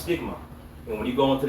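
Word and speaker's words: στίγμα: You know, that word mark there in the Greek is pronounced stigma.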